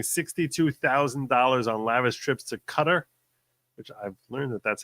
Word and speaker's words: Qatar: Hey, with ethics complaint for spending $62,000 on lavish trips to Cutter, which I've learned that that's how it's supposed to be pronounced.Qatar.